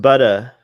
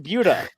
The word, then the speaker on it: Buda: I'm pointing at I think it's pronounced Buda. No, it's pronounced Buda.